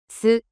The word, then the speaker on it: す: す、す、 The pronunciation of character su in Japanese is something like the combination of SOO in English.